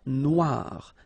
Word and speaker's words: Noire: Then here, la mer Noire. Same thing here that we had previously. Final E not pronounced, okay? And then O-I, remember, wa, noir, noir. La mer Noire, okay?